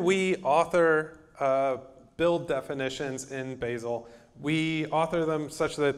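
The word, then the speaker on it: Bazel: actually the same thing they just got their pronunciation story worked out recently it is basil and if you're not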